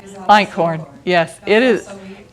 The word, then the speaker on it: Einkorn: And I don't know how you say it, is Eichhorn? Einkorn, yes, it is.